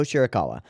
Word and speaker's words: Shirakawa: Is it Shirakawa? Is the alpaca? Yeah, Miho Shirakawa.